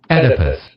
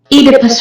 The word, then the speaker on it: Oedipus: First, listen to pronunciation number 1, my preference. Oedipus. Oedipus. This is the primary pronunciation as far as I'm concerned, but this is a secondary pronunciation that you may also use. Oedipus Rex, Latin.